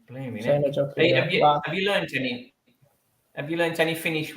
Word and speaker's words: Seinäjoki: They pronounce it different. It's actually called Esiko. Esiko. Yeah, Esiko Seinäjoki. So Seinäjoki. Seinäjoki.